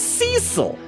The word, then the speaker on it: Cecil: Magpie says, you listen to several episodes, but still can't remember that Cecil is pronounced Cecil.